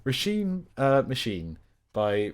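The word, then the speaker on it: Róisín: which um I've very recently learned is actually pronounced rashim uh Machine by rashim Murphy uh I enjoyed this is one I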